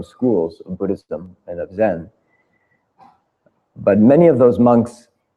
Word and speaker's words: Zen: from Japan in fact Zen is just the Japanese pronunciation of the same Chinese character Chan which we have in